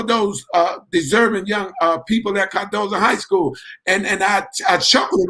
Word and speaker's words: Cardozo: deserving young people at Cardozo High School. And I chuckled a little bit when I said Cardozo, because that's not the right pronunciation. It's really Cardozo, but we don't say it. We say Cardozo.